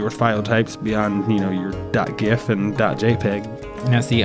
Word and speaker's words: GIF: Now, see, I like to use the soft G on GIF instead of the hard G. I know that's an age-old debate, but just wanted to throw that out there. All right, fair enough. GIF's peanut butter, but well, the creator of the file goes with the soft G, so that's what I don't know. But I think the hard G is more common.